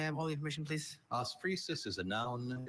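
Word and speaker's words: osphresis: Ofusis is a noun.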